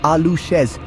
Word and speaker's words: aluxes: The aluxes, pronounced alooz.